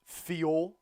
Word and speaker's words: Thiaw: I pronounced it Thiaw. Not like Thiaw. Like Thiaw.